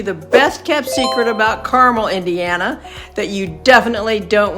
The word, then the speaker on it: Carmel: cons of living in caramel and yes it's pronounced caramel like caramel corn not caramel in this video I'm